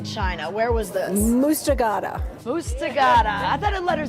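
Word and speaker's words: Muztagh Ata: Mustagata.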